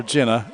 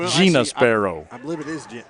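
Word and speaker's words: Jina: or gina i always want to call her jenna it's gina it's j-i-n-a and i have mispronounced it so often that i've forgotten what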